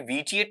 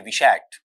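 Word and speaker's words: vitiate: जैसे ये वर्ड है ना ये विचिएट नहीं है। विषैट इसका वर्ड क्या निकलेगा?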